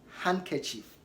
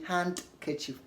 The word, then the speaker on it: handkerchief: in these common ways like handkerchief handkerchief don't say hand ketchup the D is silent it is not pronounced